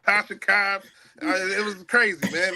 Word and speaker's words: Tasha Cobbs: My man was mispronouncing words, giving the words to Tisha Cobbs, not Tasha Cobbs.